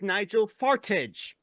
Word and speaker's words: Nigel Farage: no his name wa mispronouncing his name his name is Nigel farage oh nig F I